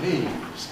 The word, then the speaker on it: knees: These are my knees.